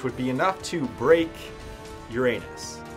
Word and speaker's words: Uranus: binding energy of the planet Uranus or Uranus for those of you that like to pronounce it like that the gravitational binding energy